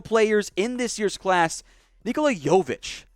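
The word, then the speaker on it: Nikola Jović: in this year's class nikola yovich not jokic it's spelled almost identical the ceo which is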